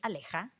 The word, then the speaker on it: Aleja: Guy French, so he can't pronounce the J. My mom calls me Aleja.